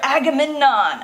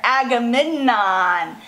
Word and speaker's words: Agamemnon: I love news okay Menelaus convinced his brother Agamemnon okay so I want you guys to remember how to say these words I might throw them up Menelaus you say that Menelaus conviction convinced his brother Agamemnon Agra Midna Menelaus magaman on the king of